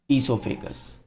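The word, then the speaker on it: oesophagus: ईसोफेगस। तो ये एक पाइप के थ्रू जाता है जिसका ओ से नाम चालू होता है बट ओ साइलेंट रहता है उसमें।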